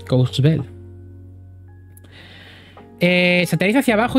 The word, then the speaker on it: Courchevel: Courchevel, se pronuncia Courchevel.